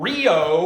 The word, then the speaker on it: REO: But something very interesting, he decided to pronounce the name REO instead of Rio, which is how the truck is pronounced apparently.